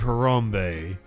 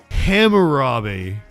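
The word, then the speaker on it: Hammurabi: Somebody So, I probably did say code of Harambe. And what I meant was the code of Harambe. But I have a thick accent. I And I mispronounce all the time. I probably said code of Harambe, which Harambe is the is the gorilla they killed. Hamarabi. There we did it right that time.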